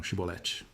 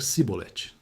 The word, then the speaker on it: Chibolete: "Diga então, Chibolete. Acontece que o dialeto de Efraim não conseguia pronunciar o somash. Eles só conseguiam dizer cibolet.